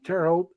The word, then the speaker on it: Terre Haute: not know this but Terre Haute is French and in French terror is land it's spelled t-e-r-r-e it's tear not Terry and how old is h-a-u-t-e and the Hulk just means High there's actually backwards from the English instead of saying High land they said land High that's